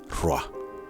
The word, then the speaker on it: Rúaj: En cuneiforme primitivo es un platillo volador que vuela o flota sobre un cuerpo de agua y se pronuncia Ruach.